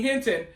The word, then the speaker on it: Hinton: Is this guy's name Rodney Hilton or is it Rodney Hinton? So apparently it's Rodney Hinton.